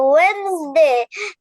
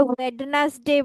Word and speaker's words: Wednesday: শনিবার Saturday, Monday, Tuesday, Wednesday, Thursday, Friday. Very good. ওয়েডনেসডে বলতে হয়, এটাকে ওয়েডনেসডে বলা যাবে না।